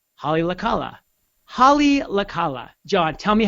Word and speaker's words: Haleakala: John Kenny says, it's pronounced Haleakala. Haleakala.